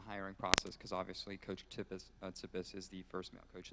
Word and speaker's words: Tsipis: process because obviously coach tius tius is the first male coach in the history of the program it's a silent T that's Greek if you didn't um it